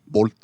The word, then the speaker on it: Volt: This is Volt, and we actually have Or if talked. you want to say it properly, bolt.